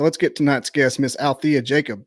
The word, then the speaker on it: Alethea: So let's get tonight's guest, Miss Alethea Jacob. The E is silent.